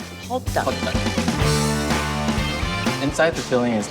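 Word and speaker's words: 호떡: How do you pronounce it? Hoduk? Hoduk. Hoduk.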